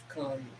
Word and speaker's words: Cannes: I'm saying it wrong because I'm just so Canadian. I'm so white and not with it. So what it is con. You pronounce it con festival.